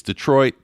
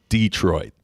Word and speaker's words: Detroit: And from my own perspective, it's Detroit, not Detroit, okay? So there you go.